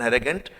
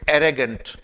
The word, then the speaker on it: arrogant: Be called as एन एरेगेंट smile. सो ये था एरेगेंट। और इस पे प्रोनाउंसिएशन देखिए, इट्स एरेगेंट नॉट एरोगेंट।